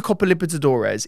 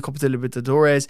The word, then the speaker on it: Libertadores: Because he's played twice in the Copa Libertadores.